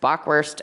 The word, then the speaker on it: Bockwurst: at the lindenhof I didn't mess it up it I messed up every other word I just said but not bockwurst bockwurst is how that's pronounced anyway so full dinners will be offered